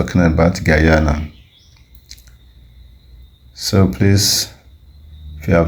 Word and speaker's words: Guyana: But they actually pronounce it as Guyana, like guy. Guy, guy. So instead of Guyana, they pronounce it as Guyana.